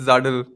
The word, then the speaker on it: Zuddl: Am I pronouncing it correctly? Is Yeah, it you're close. It's Zuddl.